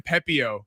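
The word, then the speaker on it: Pepiot: Ryan Pepio.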